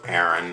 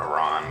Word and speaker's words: Aran: Anyways, though, so they send in the lone bounty hunter, which of course is none other than Samus Aran, or Aran, whichever version you prefer.